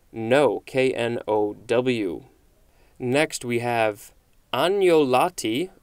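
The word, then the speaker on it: agnolotti: k-n-o-w next we have anjolatti or anyoloti it looks like this it would probably be an italian word it is spelled a-g-n-o-l-o-t-t-i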